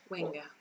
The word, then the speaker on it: Wenger: How do you pronounce that? Wenger.